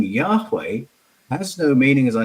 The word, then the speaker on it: Yahweh: Well, not the way we pronounce it today. But if you go to Proto-Northwest Semitic, which is the source language for Hebrew, the H's in Yahweh were voiced like this. So the sound is there.